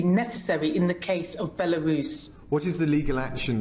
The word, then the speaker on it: Belarus: So she doesn't know how to pronounce Belarus. She said Barus.